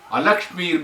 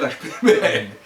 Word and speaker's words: alakshmir: If you put A in Sanskrit, it becomes opposite. So when you are pronouncing it, make sure that the A is at, I specifically put the A because people may just otherwise Lakshmi may, but that is wrong.